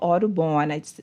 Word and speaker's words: Audubon: organizations such as the Bahamas National Trust, National Audubon, did I pronounce that right? Yep. Okay, good. Society, National Audubon Society, and Bahamas Caribbean.